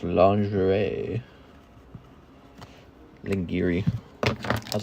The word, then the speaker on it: lingerie: When I was a kid, the first time I saw that word, I pronounced it Lingiri. Then I found out later it's lingerie.